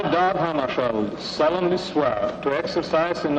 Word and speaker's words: Hammarskjöld: Well, I pronounce it myself in Swedish, Hammarskjöld. But if you say Hammarskjöld, that's all right with me.